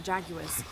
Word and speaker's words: jaguar: Could help if we run into any more jaguars. Let's hope we don't. Way out is over here. I just realized she sounded it out with 3 syllables. Jaguars. I call them jaguars. 2 syllables.